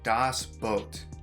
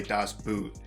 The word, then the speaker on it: Das Boot: today we are watching das boat i believe that's how it's pronounced hopefully i think it's like you say it as b-o-h-t so boat oh okay so but